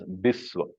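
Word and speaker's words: বিশ্ব: would be pronounced as Biswa. It is not a mispronunciation, it is a correct pronunciation in Bengali, but then it seems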